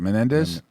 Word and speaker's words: Menendez: up democratic senator how do you say it menendez menendez rips biden administration for flawed afghan withdrawal